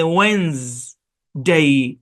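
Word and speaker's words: Wednesday: ওয়েন্স একটা উচ্চারণ হচ্ছে ওয়েন্স ডে, ওয়েন্স ডে। হ্যাঁ, অনেকগুলা লেটারই আছে এখানে, কিন্তু এগুলো তো সাইলেন্ট, তাই না?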